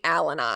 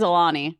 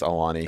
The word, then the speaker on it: Alani: He literally pronounces Alani Alanai. Alanai. I So- think it is Alani. It has to be.